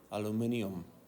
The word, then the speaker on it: aluminium: How is it pronounced? If you read it on the periodic table, it's aluminium. The only time you hear that is from a it's like someone from a different country. You can say the Brits are right on that one, Yeah.